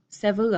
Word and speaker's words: several: going from three syllables looks like it should be three syllables down into two syllables a clearly longer pronunciation you might hear somebody say several several three pieces vote well several oh my bad shortened